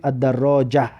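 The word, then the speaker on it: الدراجة: الدراجتو، الدراجتو یعنی که دوچرخه، یا که الدراجه اگر بیسته میگیم الدراجه. همین ته معنی است که دیدید در حالت ایستادن ه و مثل ه تلفظ می شود.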